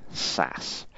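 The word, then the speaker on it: SaaS: a hands-off approach and software-as-a-service pronounced sass you simply rent an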